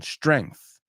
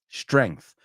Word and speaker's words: strength: often mispronounce strength strength strength weird because there is a g but you don't really hear it right strength strength so